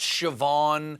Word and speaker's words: Siobhan: how scene is pronounced shawn and shseoban is pronounced siobhan and soda bread is considered food biden came